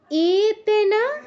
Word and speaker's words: एतेन: एतेन स्तुवतां देवीं स्तोत्रवृन्देन भक्तितः। एतेन, শুরুতে এ আছে, এ দীর্ঘস্বর, তাই দীর্ঘ করতে হবে।